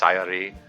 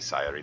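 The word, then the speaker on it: Sayori: confess I've been I've been really lazy about pronouncing sori's name uh I I I've been saying sori a lot um I know it's supposed to be CI the emphasis on the first syllable CI CI um I don't know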